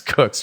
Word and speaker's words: Koch: It's Cook's Ranch. So it's spelled Koch though, so we always call him Matty Cock.